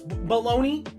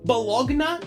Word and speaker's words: bologna: At what point, when you say the word baloney, do you pronounce G-N-A? Bologna? That's not how you say it.